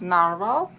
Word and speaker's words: narwhal: it lives in Arctic seas and actually it pronounced as naral and is spelling without e at the end. Uh so so many things I learned today thanks to this prompt. So naral it is.